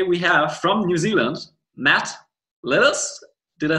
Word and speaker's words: Matt Lillis: Today we have from New Zealand, Matt Lillis.